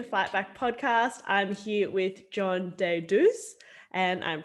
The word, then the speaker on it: John Deidouss: welcome to the fightback podcast i'm here with john de deus and i'm pronouncing that right yes yeah amazing everyone john